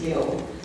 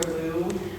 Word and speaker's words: Liu: And then my last name, uh the Chinese pronunciation is Liu. Um and like but most people say Liu or Lou. Um I think Lou's kind of cute. But Liu is also good.